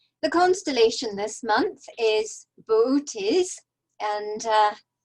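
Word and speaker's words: Boötes: constellation this month is bootes and uh the two dots over the second o indicate that both o's should be pronounced separately as booties and i shall continue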